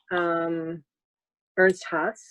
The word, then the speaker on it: Ernst Haas: I thought it was interesting when we were talking before that one of your mentors, Ernst Haas, that's how you pronounce it.